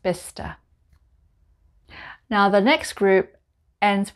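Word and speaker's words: Bicester: vista village just outside of oxford and it's pronounced bista now the next group ends with which w-i-c-h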